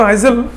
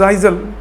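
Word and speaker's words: Lisle: poet rosette T ले आयल ले इट्स नॉट हाइजल some they pronounce ट आइजल ब्रिटिश आइजल ए silent रहता है इट वास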